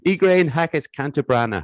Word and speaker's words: Ygraine Hackett-Cantabrana: sure i got the realization correctly so it's igraine hackett cantabrana how are you i'm very good thank you and well done on the pronunciation oh thanks it's only because you told